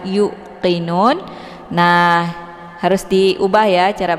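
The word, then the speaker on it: يوقنون: Jadi bukan yukqinun. Meskipun huruf qf ini agak sedikit ditekan ke pangkal lidah, tapi bukan berarti wau ini juga harus ikut ditekan ya. Jadi kita bacanya seperti biasa y-nya dipanjangkan kemudian langsung diteruskan ke huruf qof tanpa ditekan yanya yuqinun. Jadi yang merasa ada kesalahan di sini cara membacanya adalah yuqinun.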